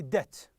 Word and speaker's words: debt: the word is debt the B is silent here okay the biggest and you say debt that means Dane get